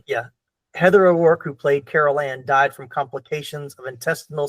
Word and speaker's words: Carol Ann: And Heather O'Rourke, who played Carol Ann. I knew the Ann part, but I was like, I'm saying it wrong. I was going to say Julianne. Like, Julianne's not right.